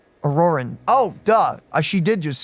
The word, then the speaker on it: Ororon: I've never met Ororon, but if they consider him the odd one, he's got to be pretty far out there.